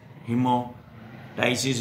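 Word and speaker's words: hemoptysis: यदि खांसी के दौरान नाक से खून आए तो इसे हिमोपाटाइसिस कहते हैं, हिमोटाइसिस भी बोलते हैं इसको, पी साइलेंट भी रख लेते हैं हिमो, मैं तो इसको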